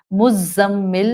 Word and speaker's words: مزمل: مزمل میں زا buzzing sound والی ہے.